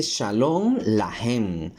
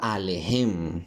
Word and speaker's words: Shalom Lahem: Como dato curioso, aquí dice Shalom Lahem, no Alejem, como yo lo estaba pronunciando.